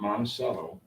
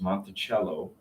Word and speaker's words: Monticello: because the estate, ironically, this is not Monticello. We've butchered the name. It's Monticello.